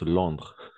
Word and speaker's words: Londres: En Londres, on prononce Londres. OK? Oui, sans le E, sans le S, simplement Londres.